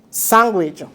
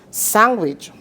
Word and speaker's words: sandwich: This D is a silent D, W-I-C-H.